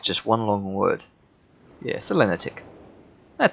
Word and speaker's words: Selenitic: um It's s ntic no stress on any syllable according to Google so did I just put a stress on is that selenitic just just one long word yeah selenitic that sounds fine let's